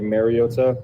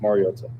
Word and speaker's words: Mariota: think it's been said over the years like marota um which is incorrect and it's pronounced marota marota yeah I need a followup